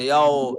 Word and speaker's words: يوم: ইয়াও ইয়াও ইয়াও ইয়াও ইয়াও, নট ইয়াও ইয়াও ইয়াও। উচ্চারণ সঠিক হবে ইয়াও, এটা ইয়াও। মুখের ভিতর থেকে বলা যাবে না, ঠোঁট থেকে বলতে হবে ইয়াও।